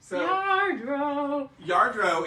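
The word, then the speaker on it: Lladró: and they're from spain the double l is pronounced as a y yardro hi mom marilyn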